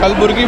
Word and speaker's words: कलबुर्गी: ये अपने भाई हैं, कलाबुरागी स्टेशन पे रहते हैं ये, और कलबुर्गी बोलते हैं ना? हाँ, कलबुर्गी बोलते हैं। इंग्लिश में स्पेलिंग पता नहीं, कलाबुरागी है।